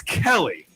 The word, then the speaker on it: Kalle: Kaylee Samuja tees off at 10:54 tomorrow from Finland. He's the amateur qualifier. He won the European. Spell this name. Kalle with an accent on the E. It's Kelly. It's Kelly.